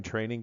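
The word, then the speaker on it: train-eng.com: at our website at train minus sign Eng comm pronounced training this is our CWI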